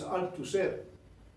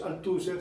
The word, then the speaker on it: Althusser: libro muy interesante de louis althusser o louis althusser según como lo pronuncian otros es libre entonces se